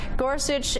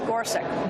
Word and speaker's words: Gorsuch: as days marched on someone told me I was wrong that I should pronounce it like this President Trump's Supreme Court picked judge Neil gorsi judge gorsek judge Neil gorsek judge